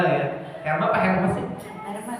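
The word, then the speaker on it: Hermès: Herman. Herman katanya dibacanya Herma katanya bukan her.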